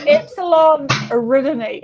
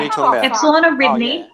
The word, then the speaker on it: Epsilon Eridani: Epsilon Eridani. Is that the same fucking place? Yeah. Epsilon Eridani and Epsilon Eridani.